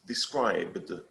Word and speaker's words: described: Vea como la D se come la E porque la E no tiene sonido. Entonces solo vamos a decir described. Described.